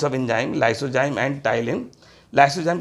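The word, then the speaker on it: ptyalin: टाइलिन नाम का enzyme टाइलिन में पी साइलेंट है बेटा ठीक है पी टी वाई ए एल आई एन टाइलिन या इसका दूसरा नाम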